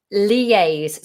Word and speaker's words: liaise: pronounce and the meaning liaise spelled l-i-a-i-s-e liaise lee like um like the name lee lee a's liaise liaise liaise a little